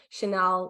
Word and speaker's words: Chanel: Chanel, like Coco Chanel.